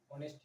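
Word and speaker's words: honest: जैसे होनेस्ट है, ऑनेस्ट है, आवर है, हियर है, इसमें क्या इस्तेमाल किया जाएगा, इनके बारे में आप जानते हैं कि ऑनेस्ट में एस साइलेंट है, इसको नहीं पढ़ा गया लेकिन लिखा जाता है,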